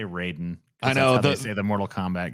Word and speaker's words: Raiden: workout yeah amen why does paul keep saying ryden isn't it spelled ryden yeah it's spelled like oh my god dude they want you to say raiden i know the mortal